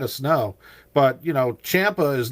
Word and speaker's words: Ciampa: When you say his last name, cuz it's it's spelled Kia or Campa or whatever, just replace the I with an H and it's Champa.